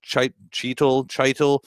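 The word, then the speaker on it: Chytil: Yeah, it is Heedle, by the way, so rhymes with the Beatles.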